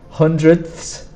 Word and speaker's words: hundredths: So it is difficult to say the th sound. Tenths, so you have to put your tongue behind your teeth and go th. So it's tenths, hundredths, thousandths.